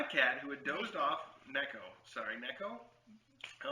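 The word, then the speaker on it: 猫: the floor and excitedly told his mother, Nico, pronounced Nico, which is the Japanese word for cat. My cat, who had dozed off, Neko.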